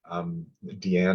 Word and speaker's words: Deanne: And I'm very pleased that we have Deanne. Am I pronouncing your name right? Is it Deanne?